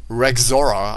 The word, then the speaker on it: Rexaura: three of uh portal rick zora i i think it's actually spell spelled r-e-x a-u-r-a but i was gonna say pronounced uh rexora i think that is the uh proper pronunciation for this mod um and um yeah